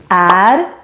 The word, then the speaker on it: är: And when you say this common verb, är, then it's super important that you don't pronounce it as are or or.